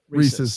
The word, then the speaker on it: Reese's: to do with oh how do you say reese's like reese's cup he doesn't say it at all reese's reese's thank you it's reese's you guys are phonetically right but wrong wrong in your hearts hey let's talk christmas